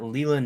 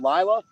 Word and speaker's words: Lila: We got Leela Newton. Hey, how's it going? Leela? You mean Lila? Lila, yes. Is that how you say it?